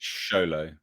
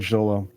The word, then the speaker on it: Xolo: It's Sholo. You need to say Sholo. Sholo? Apparently. Is that how you pronounce it? That's what Paulie said in the chat. He said Sholo. Oh, okay. Okay. So. Well, I've always said Xolo, so we got it wrong, bro.